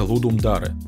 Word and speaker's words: Ludum Dare: геймджемы в мире называется ludum dare и именно так это и произносится так как это латинский язык он проводится два раза